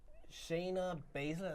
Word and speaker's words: Shayna Baszler: Yeah, I think Shayna Baszler, as you pronounce her name.